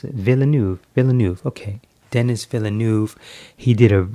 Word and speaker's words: Villeneuve: How do you pronounce it? Villeneuve.